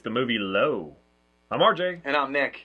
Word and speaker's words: Lo: We are doing the movie Low. That's right. It's L-O. That's how it's spelled. Like Lo and Behold.